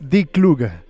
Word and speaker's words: Die Kluge: Felicita el programa y aclara que la pronunciación real de esta ópera es Die Kluge.